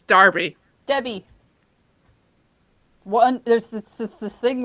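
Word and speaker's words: Derby: in lancashire or did they speak darby it's darby debbie one there's this thing where one letter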